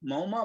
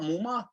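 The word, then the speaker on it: Muma: from wyoming chad mumma i think that's how you pronounce it m-u-m-a moma mumma let me see what i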